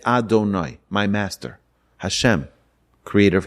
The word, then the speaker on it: Adonai: V and the he we're not supposed to read it out the way it's spelled instead it's Adonai my master Hashem creator